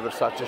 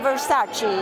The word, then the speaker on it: Versace: and I have a Versace shirt, which I will be wearing next time. So can you tell us how to pronounce correctly? Because usually American, we say Versace. Versace, right.